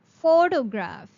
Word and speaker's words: photograph: The next word for today is photograph. Photograph. If you have to say the word photograph, the pronunciation will be with the emphasis on first three words.